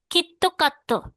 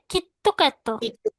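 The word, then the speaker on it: キットカット: তো এই আইস কোহি, পিৎজা, কিটক্যাট, কিত্তো কাত্তো, কিটক্যাট, বাট ও উচ্চারণ করবে কিত্তো কাত্তো।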